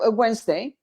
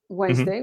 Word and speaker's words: Wednesday: away some letters yeah like in the word wednesday wednesday we just saw it um in milton it